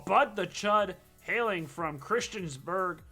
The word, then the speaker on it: Christiansburg: the chud hailing from christiansburg christenburg christiansburg i said it right the first time christiansburg virginia last season